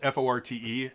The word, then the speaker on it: forte: so fort it's spelt f-o-r-t-e and in italian uh that's pronounced forte and sorry it's music